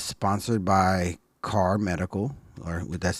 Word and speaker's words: Kahr: It's sponsored by CAR Medical, or that's spelled KAHR.